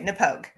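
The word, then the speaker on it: Knappogue: next to it and it's literally n-a-h-p-o-g-u-e no pogue okay nepogue i was like is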